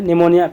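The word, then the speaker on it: pneumonia: निमोनिया जो है ना स्ट्रेप्टोकोकस और फिनोमेना, यानी निमोनिया इसको बोलते हैं, निमोनिया पी साइलेंट है, श्वसन संबंधित रोग है एक प्रकार का।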